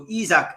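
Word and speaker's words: Isak: the pronunciation right uh mozar's been on all week going it's izak it's izak and not isaac so izak has arrived at newcastle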